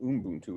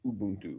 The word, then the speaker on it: Ubuntu: It's not Ubuntu, it's Ubuntu, right? Like that.